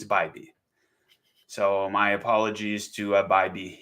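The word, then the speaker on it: Bibee: Guys, his name is pronounced Bybee. I often have people correcting my pronunciations. I call it BB, and it's Bybee.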